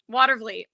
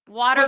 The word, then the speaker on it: Watervliet: Watervliet. Say that again. Watervliet. That one, yeah. Yes. Watervliet.